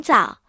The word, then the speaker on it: 棗: 结婚的时候，有些人会送红枣，因为枣和枣是同音，表示早